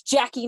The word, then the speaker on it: Jaci: I pronounced her name the wrong the very first time I met her, but I know it's Jackie now.